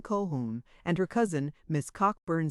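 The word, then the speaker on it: Colquhoun: On the floor above us are Miss Kolkun Kohhun and her cousin Miss Cochburn Sinclair Coburn Sincler.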